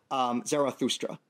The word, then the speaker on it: Zarathustra: Prophet's name in the original Avestan language would have been pronounced something like Zarathustra.